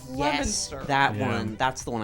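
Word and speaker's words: Leominster: There's another one where it's like it's spelled Leo Minster, but it's Lemonster.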